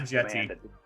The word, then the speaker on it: Djitte: Musa Jetti. Musa Jetti, yeah. Jetti, yeah. I'm assuming that's how you say his name. It's Djitte. Yeah, and I'm assuming it's like a silent D.